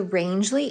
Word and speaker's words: Rangeley: .1 from the Route 4 trailhead, and shuttle driver Jack, who's going to take me to the, I think it's called, Rangeley, pronounced Rangeley Inn.